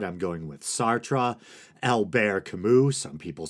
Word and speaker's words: Sartre: namely Jean-Paul Sartre I know some people say sard I'm going with Sartre El bear Camus some people say Albert I'm